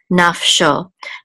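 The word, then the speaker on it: נַפְשׁוֹ: So this is naf, and this is a shin, and this tavir trope indicates the accent is on the last syllable. And the vav with the dot over it says o, so sho, naf sho.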